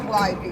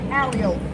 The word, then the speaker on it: Calliope: No, it's not Calliope, y'all. Hand to God, it is pronounced Calliope.